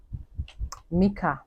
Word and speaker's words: Mica: there's someone they call Michael Miler Mika Mila that's her name sorry I mispronounced it the first time so her name is